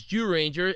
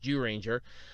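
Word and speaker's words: Zyuranger: The 1992 series Jew Ranger, and it's spelled ZYU Ranger, but it's pronounced Jew Ranger, was remade into Power Rangers. Technically, they used the suits from Jew Ranger for 3 freaking seasons.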